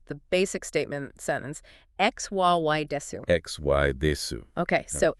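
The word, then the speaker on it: です: And finally, you have R pronounced desu.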